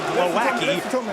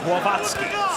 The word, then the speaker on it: Głowacki: It looks like Huck and Guaki. We have confirmed the pronunciations. It is Hook and Guavasi.